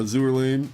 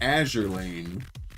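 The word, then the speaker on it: Azur Lane: Going along with the NK and the uh Azour Lane. Azure. Azure Lane. We figured out it is pronounced Azure Lane.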